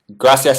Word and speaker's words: gracias: Gracias is the proper pronunciation. C equals TH.